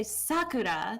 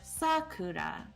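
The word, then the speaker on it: さくら: of it is oh if you say sakura the first syllable is louder that's how english would do it is loud quiet quiet it's cuda it's all flat i think typically right yeah but in japanese it's actually like sakura higher lower lower let's see how do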